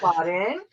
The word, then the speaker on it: Laden: I'm Laden, and that's pronounced just like Bin Laden, but you get rid of the bin and you get rid of the bad.